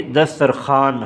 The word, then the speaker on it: دسترخوان: نہیں ادا کیا جاتا، جیسے کہ دسترخوان، اب اس میں واو ہے لیکن یہ واو نہیں پڑھا جاتا تو اس لیے دسترخوان ہم بولتے ہیں۔ اور اسی طرح خواب،